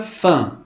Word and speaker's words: faim: E este grupo, formado por AIM, EIN, pronuncia-se como AN. A palavra faim, que significa fome. Observe a nossa pronúncia figurada entre colchetes.